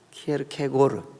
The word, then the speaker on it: 키에르케고르: 빼서 보니까 어 그 키엘 케 골 키에르케고르 그래서 그렇게 발음 하지요 기획해 볼 기회를 캐고